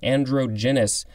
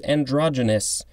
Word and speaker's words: androgynous: to retake that because my stupid brain kept on hearing andro andro and so i said androgenous it's our next word and that's when i figured out it was androgynous alright so it is